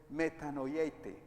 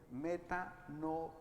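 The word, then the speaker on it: μετανοεῖτε: Y la palabra o el verbo imperativo en griego es metanoieite, metanoeite.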